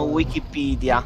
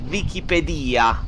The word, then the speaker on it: Wikipedia: secondo la Crusca la pronuncia italiana dovrebbe essere Wikipedia. Ma con la V.